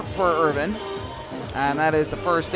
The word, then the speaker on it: Irvine: Irvine tried to hit the same spot. Irvin, excuse me. It looks like Irvine. His name is spelled like Irvine, I-R-V-I-N-E, but it is pronounced Irvin from what we were